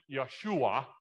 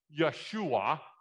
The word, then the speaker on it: Yeshua: Hebrew word Joshua Joshua in Hebrew it sounds more like Yeshua okay my Hebrew pronunciation I'm told is okay but it's not great but it's Yeshua okay Joshua Yeshua means